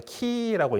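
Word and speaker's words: χ: 그러니까 어떤 거냐면은 그 우리 이제 영어식 발음이 더 익숙하실 수학 시간에 보면 카이라는 기호 있죠. 그러니까 CHI이기 때문에 그 발음은 키라고 있는 건데 그게 대문자가 X로 씁니다.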